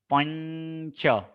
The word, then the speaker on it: पंच: च वर्ग के 5वें अक्षर छ, छ, ज, झ, ञ, यानी इनका उच्चारण इस प्रकार से होगा, पंच, इस प्रकार से पंच।